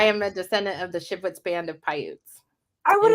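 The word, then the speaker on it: Shivwits: How do you pronounce all that? I am a descendant of the Shipwits band of Paiutes.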